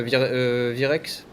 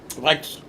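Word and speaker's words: Wrex: Enfin, Virex? Vrex. Ah, c'est Vrex.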